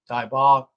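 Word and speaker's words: dybbuk: In Kabbalah, this phenomenon is known as, I'm going to spell it again for you, D-Y-B-B-U-K, Daibak.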